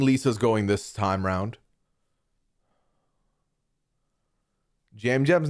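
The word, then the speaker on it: Yam Yam: Jam Jam's name is spelled with a Y pronounced with a J.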